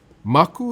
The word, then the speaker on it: Maku: "M-A-K-U, spells Maku proudly. "You say it like mug, the cup you drink tea out of, and ku, the sound an owl makes. Maku.